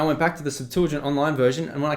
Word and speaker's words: Septuagint: It's got one word called the Septuagint. That's how it's said, that's how it's spelled, all right?